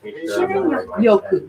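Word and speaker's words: shinrin-yoku: Shinrin Yoku.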